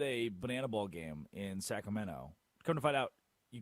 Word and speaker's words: Sacramento: I was at a banana ball game in Sacramento. Come to find out, you cannot say Sacramento. Don't say the T. Do not pronounce the T.